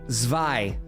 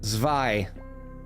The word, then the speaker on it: zwei: Gleich Zwei. Z in German is pronounced softer, like in tisk, tisk, tisk. Zleik Zwei. Zwei.